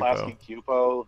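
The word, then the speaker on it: Klasky Csupo: Klasky Cupo. The S is silent. It's Arlene Kasky and Gaber Cupo.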